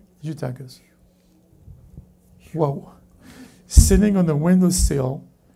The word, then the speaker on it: Eutychus: Eutychus.